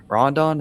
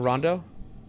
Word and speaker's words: Rondo: Rodon, how do you say it, hasn't been doing that much. Rondo. Rondo, yeah, I'm just butchering his Gotcha.